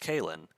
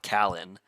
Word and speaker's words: Calen: But it's like my name because I've had it's spelled Calen and it's pronounced Kalen. But a lot of people, I've had a lot of people that like even my sister said it's Callan. I'm like it's not Callan. It's not pronounced Callan. When I asked her how to pronounce it, I'm like Callan. Callan would be with two L's because it's just Alan with a.